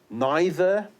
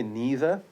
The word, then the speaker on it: neither: So you've got neither, or you can say neither.